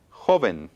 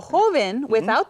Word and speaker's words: joven: Ahora, joven. Joven. Okay, dos sílabas. Okay, ends in an Joven. N. Yo escucho énfasis en jo.